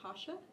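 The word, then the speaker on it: Rocha: Hasha is how you say his last name. It's spelled like Roca, but it's Hasha.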